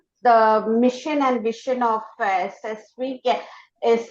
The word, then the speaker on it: CESVI: It is pronounced as CESVI only.